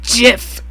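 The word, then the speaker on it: GIF: yeah there we go it's pronounced jiff like the peanut butter what that's like it's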